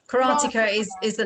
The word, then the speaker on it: karateka: right in saying that you're a karate karateka janice is that how you pronounce it yeah karateka is is the name